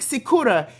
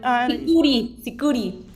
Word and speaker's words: sikuri: I think Sikura is what Anaís said, that music. Did I say it right? Sikuri. Oh, Very Sikuri. similar, yes. Sikuri. I was almost, it's an E, not an A.